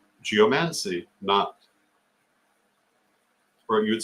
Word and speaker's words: geomancy: I've got to tell you, in the English language, geomancy is not the pronunciation. The pronunciation is geomancy, just as you would say well, it's like any other Greek word you bring into English, and you would say, for example, biology, not biology.